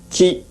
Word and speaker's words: qi: Chinese pronunciation qi, Korean pronunciation ji.